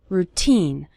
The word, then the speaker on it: routine: part of your daily routine the syllable teen is stressed in the word routine you'll start seeing your English